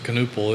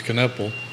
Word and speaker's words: Knipple: week when Khan knipple I've been mispronouncing his name is canoopal it's knipple from Milwaukee we a